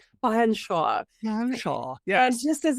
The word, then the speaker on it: Featherstonehaugh: So as we see Bambi Fanshawe, it's pronounced Fanshawe. Fanshawe.